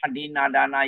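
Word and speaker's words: adinnādāna: No, Adinna Dana. Here is Adinna Dana. Short A. And then three long A's behind.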